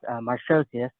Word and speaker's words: Markosias: So how you actually pronounce it is Marshosius.